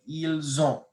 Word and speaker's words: ils ont: Then you have il, elle, pluriel, il, elle, and you don't pronounce the S unless it begins with a vowel beginning like ils ont.